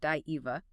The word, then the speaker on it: Daiva: For instance, both traditions worshipped supernatural beings they referred to as Daiva, pronounced Daiva, that means gods, and Ahura, which roughly translates to supreme beings or lords.